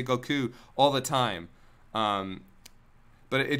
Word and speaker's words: Goku: They say Goku all the time. But it just bothered me because his name is Japanese, and I always pronounce Japanese the way it's supposed to be pronounced.